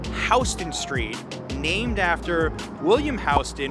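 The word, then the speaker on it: Houston: this one how would you pronounce it it's pronounced hon street named after William HST who was a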